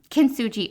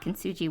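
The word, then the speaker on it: Kintsugi: bit of a backstory with k well um kin suji art not kinji Wellness that I think that's actually a book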